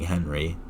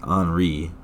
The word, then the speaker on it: Henri: it wrong last time i was saying henry which is understandable because it looks like henry right but i always forget that you know the french are stupid and have to pronounce everything wrong so it is in fact anri uh and also that's